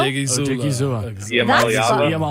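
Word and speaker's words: Odighizuwa: Odigizua. That's fun. Odigizua. That is pretty fun now that you know how to pronounce it.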